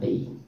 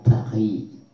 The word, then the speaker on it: Paris: Huế đó tới Paris đọc tiếng Pháp là Paris, tiếng Pháp nó hơi cái chữ R nó đọc trong cổ họng, tại vì mình có